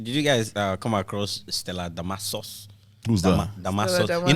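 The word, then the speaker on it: Damasus: and was like, Nigerians, Stella Damascus, but actually, her name was Stella Damasos. So sauce, but it's SUS, right?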